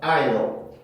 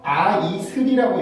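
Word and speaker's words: isle: 모음들 강세 연습하면서 이거는 I라고 발음하고 이건 L 발음이었었죠. 그래서 I'll 이라고 읽어야 돼요.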